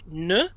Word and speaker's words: ne: The French letter E. A lot of people want to pronounce it like A, maybe from Spanish, but in French, a lot of times, especially in small little words like ne, the E sounds like e.